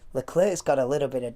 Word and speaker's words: Leclerc: team radio message saying, Leclerc's got a little bit of damage. They say Leclerc, I say Leclerc. I don't know. Leclerc. Charles Leclerc. It's probably correct pronunciation, but I'm not going